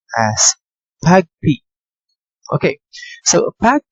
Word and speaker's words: PAgP: with the the first protocol okay the pagp pronounced as tag p okay so a path d is a cisco